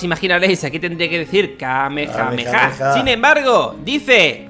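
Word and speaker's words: Kamehameha: el máximo poder muy atentos a como lo pronuncia muten roshi como Todos imaginaréis aquí tendría que decir Kame jame Ja sin embargo dice y ahora tengo que leerlo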